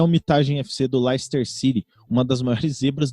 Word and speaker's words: Leicester: criar um padrão que não é laís ter é lester não ela é se escreve lester é feio lá esperar legal não é leicester é mais legal então não não é